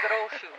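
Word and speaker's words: Gros Choux: There's no S on the end of the first part. It's gros chou.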